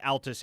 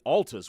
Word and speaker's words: Altus: Drake Ty just texted me and said Altus is the correct pronunciation.